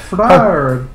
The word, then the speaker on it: Fraer: at me wrong, and he was like, "You're saying wrong. It's Fraer." Oh, okay. You should say Fraer. Yeah, so I ended up. It's like French pronunciation.